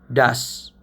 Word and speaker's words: does: bisa baca dengan baik Misalnya ini tulisannya does Tapi bacanya bukanes bacanya Das itu lebih ke speaking gitu